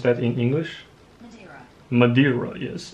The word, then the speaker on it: Madeira: country man mandaria model madrella how do i pronounce that in english madeira yes it's an island in the entire atlantic